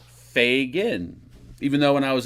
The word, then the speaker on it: Fagan: like Jamaican fogan hello MK Fagan it is pronounced Fagan f a y g i n g n there you go if you want to know the proper pronunciation of the last name it's not Fagen it's Fagan even though when I was in grammar school